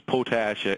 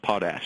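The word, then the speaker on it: potash: side of that border I suppose it's podes so I I've heard it pronounced both ways I guess it just depends on what side of the Border you're on so I think we've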